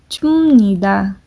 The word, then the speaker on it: 줍니다: Then present formal would be 줍니다. This would be pronounced p. This would be pronounced as m. 줍니다.